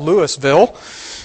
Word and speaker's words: Louisville: it is Louisville ah that's right it's it's it's spelled Louisville but it's pronounced Louisville by local folk what